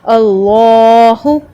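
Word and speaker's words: الله: پڑھنا اس کو، اللہ، اور اسی لام کو آپ نے 2 کاؤنٹ تک لمبا کرنا ہے، کھینچ کے پڑھنا ہے، اللہ۔ اٹ از not like this, اللہ۔ 2 count تک آپ نے لام کو لمبا کرنا ہے، اس کو ہیوی پڑھنا ہے، 2 حرکت تک لمبا کرنا ہے، 2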